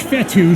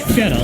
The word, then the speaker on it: Fetu: So Coach Fetu, spelled F-E-T-U, for the longest time I was pronouncing it Coach Feta, like feta cheese.